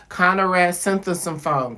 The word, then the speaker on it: Konerak Sinthasomphone: We wanted to learn his name so bad, like how to pronounce it correctly. And we kept repeating it after he told us, Konerak Sinthasomphone, Konerak Sinthasomphone, until we got it correct.